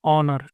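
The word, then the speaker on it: honour: ऑनर में अब H silent रहता है। और यहां पर यह वाला साउंड ऑनर। ठीक है? अ वाला साउंड आ रहा है।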